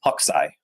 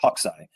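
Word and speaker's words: Hokusai: Um, this artist, his name is, it looks like Hakusai, but it's just pronounced Hawkai, like like a bird hawk and its eye. Hawkai.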